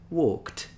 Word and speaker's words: walked: Walk, walked, etc. So it depends on the letter.